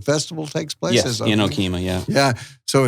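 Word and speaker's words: Okemah: Yes, in Okima, yeah. Yeah, so it's pronounced Okima, correct?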